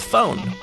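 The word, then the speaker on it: Fohen: off this show with phone which is spelled f o h e n not like a telephone and I'm not actually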